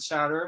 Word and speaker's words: Soter: So, and so Larry is involved with, it's pronounced Soter tech, right?